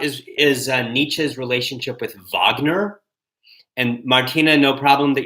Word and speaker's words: Wagner: in which vogner and by the way it's spelled like Wagner whe n ER vogner was more than just